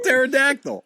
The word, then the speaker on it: pterodactyl: P Al together yeah the p is silent you dummy like in pterodactyl what about this don't